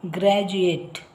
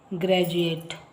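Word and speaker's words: graduate: ಇ ಬಂದಿದೆ ಜ ಉಚ್ಚಾರ ಹಾಗೆ ಯು ಎ ಟಿ ಇಂದ ಪದಗಳು ಪದ ಗ್ರಾಜುಯೇಟ್ ಗ್ರಾಜುಯೇಟ್ ಇಲ್ಲಿ ನೆಕ್ಸ್ಟ್ ಐಈ ಆರ್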